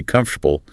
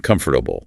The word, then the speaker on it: comfortable: You want to say comfortable, not comfortable.